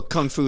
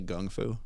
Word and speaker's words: Kung Fu: Like Kung Fu or Well, Kung Fu is just how Jiu-jitsu. Americans say it. It's actually Gung Fu.